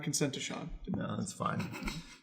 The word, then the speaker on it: Sean: that's Sean yeah I know Roisin no you pronounce it Sean that's how they're not really the only single